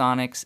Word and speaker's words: Onyx: And yes, it's pronounced Onyx. It's a Greek word.